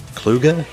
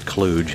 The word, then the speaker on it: Kluge: and published by klug kluge interactive well as an old school developer i'm not going to pronounce it cluj out of respect you can find it